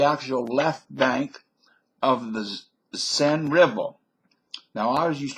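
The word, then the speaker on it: Seine: Renee but the actual Left Bank of the sen River now I was used to pronounce the send the z river because it's spelled exactly like a German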